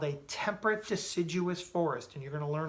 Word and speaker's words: deciduous: it says the temperate deciduous forests can you guys say that with me temperate repeat after me temperate deciduous dee Sid you us deciduous forest okay can you